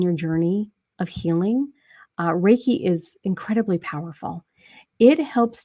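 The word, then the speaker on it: Reiki: can you explain and and I know I mispronounced the word uh my wife is a raike master and she gets mad at me because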